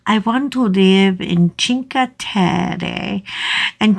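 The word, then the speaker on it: Cinque: want to live in chinka and chinka is spelled c i n q u e go Google it and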